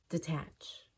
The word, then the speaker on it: detach: deodorize decontaminate decompression dehydrate now when de is not used to make a new word from something that was already a word then we pronounce d as D and it's reduced and it's quick detach detach by itself is